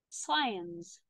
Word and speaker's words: science: Egypt, flax, flax, queen, queen, column, columns and silent letter. Columns. Science.